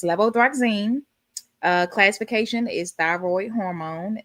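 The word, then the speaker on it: levothyroxine: Now this is one that I was definitely pronouncing wrong for a long time. When I would have patients coming and taking this I always would say levothroxine but it's levothroxine.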